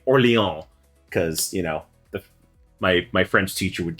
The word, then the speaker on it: Orléans: Orléans.